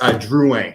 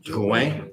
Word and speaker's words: Drouin: Drouin. It's like the French. Drouin.